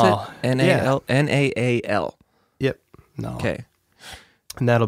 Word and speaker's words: Naal: Is that how you pronounce Naal. It? N-A-L. Yeah. N-A-A-L.